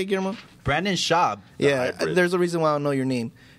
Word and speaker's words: Schaub: You have Brandon Schwab, or how do you say it, Guillermo? Brandon Schaub.